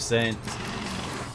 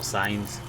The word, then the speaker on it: Sainz: Hopefully we can stay in front of the Toro Rosso of Saints. Or Sainz.